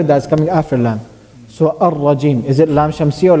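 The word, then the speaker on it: الرجيم: It is shamsiyah. It's not pronounced. Because it has a ra after it, and ra is one of the letters of lam shamsiyah.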